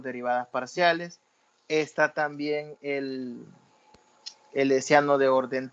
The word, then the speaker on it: hessiano: con el nombre del hessiano. Así como se oye, hessiano, se escribe con H al inicio y lleva una doble S, hessiano, doble S y con H al inicio.